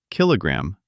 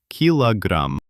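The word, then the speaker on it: килограмм: There stands an unstressed o, which turns into a, la. Connecting them, kilogram, pronounced as kilogram. Brilliant. Five points. We write k i l o gram, but we pronounce it absolutely naturally, kilogram.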